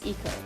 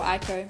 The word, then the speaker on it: Iko: My favorite character hands down is Iko, or Aiko, depending on how you want to actually pronounce these things.